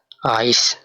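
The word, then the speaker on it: Eis: এটার উচ্চারণটা হবে এ, ই, এস, আইস অর্থাৎ আইসক্রিম।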